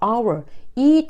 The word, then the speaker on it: hour: 했죠 자 여기서는 소리가 안 나는 무음이 그래서 our이 단어는 첫소리가 our 모으로 나기 때문에이 our 앞에